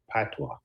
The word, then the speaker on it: patois: It's called patois. Huh? How does? Patois. Do you know It's how to spelled speak? it's spelled like French.